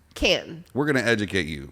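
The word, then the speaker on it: Cannes: okay so it's cancer can no no it's not plural no the s is silent that's a film festival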